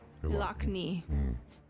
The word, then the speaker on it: Ilakni: How do you pronounce his name? Ilakni.